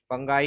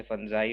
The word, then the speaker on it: fungi: फंगाई या फंजाई, क्या जो भी आप बोलते हो, different people pronounce it with different name. I call it फंजाई sometimes and sometimes फंगाई। वैसे फंजाई होता है।